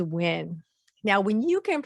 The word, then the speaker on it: Nguyen: Noon. Noon. Win. Win. New win. Or Nguyen? Okay, so the answer is win.